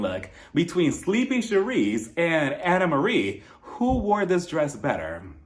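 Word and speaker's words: Annemarie: outfits so we start with anamarie I've been mispronouncing her name according to her the entire time I thought it was anarie but it's anamarie she says it's a name she's at the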